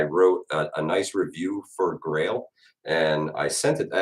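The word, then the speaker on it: Grayl: these guys this is a grail geopress now spell that because it's backwards it's g-r-a-y-l grail um this thing is incredible guys it filters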